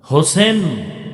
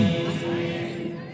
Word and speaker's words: হোসাইন: হোসেন না হোসাইন? আমাদের দুঃখ যে অনেক মানুষ নামটাও সুন্দর করে উচ্চারণ করে না। হোসেন না হোসাইন? হোসাইন শুধু হোসাইন না